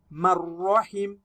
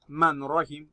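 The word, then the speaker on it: مَن رَّحِمَ: Now you are going to read this as marrahim, marrahim, not manrahim. Wrong.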